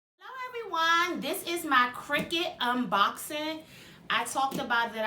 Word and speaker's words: Cricut: Cricut?